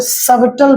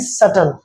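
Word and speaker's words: subtle: इसको मैंने देखा कि बहुत सारे बच्चे सबटल प्रोनाउंस करते हैं। तो यह सबटल नहीं है दोस्तों। ठीक है? यह बी यहां पर साइलेंट होता है। That is सटल।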